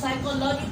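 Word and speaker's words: psychology: इसको साइकोलॉजी पढ़ा जाएगा, फिजियोलॉजी नहीं पढ़ा जाएगा। तो आप साइको पढ़ोगे, फिजिको नहीं पढ़ोगे।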